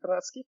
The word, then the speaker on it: Kornacki: guest today is Maciej Kornacki. Is that how you pronounce the last name? Kornacki? Yes, Maciej Kornacki. Kornacki? Okay. All right. Kornacki. All right. More Polish like.